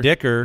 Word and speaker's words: Dicker: I mean, with a name like Dicker, you knew he was going to win yeah. the job. You just Just make him a starter. That? Rhymes with kicker, okay.